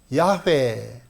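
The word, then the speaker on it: 야훼: 절대자다 자 그런 뜻인데 그분의 이름이 히브리서 발음으로 야회 또는 우리 식으로 쉽게 여호와 이렇게 발음하는 겁니다 이름입니다 제가 딴 분들이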